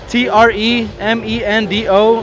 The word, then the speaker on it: Tremendo: first name, and then T R E M E N D O is my nickname. Tremendo. like tremendous except just take off the US and O like Kendo tremendo O baby cuz I'm